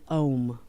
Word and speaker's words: Om: These are, by the way, associated with Om. Now, we often say Om in the West, O-M, but technically you would write that sound. You might have seen it spelled A-U-M, right?